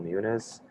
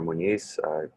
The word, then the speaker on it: Muñiz: My name is Muniz, or Muñiz, pronounce it either way.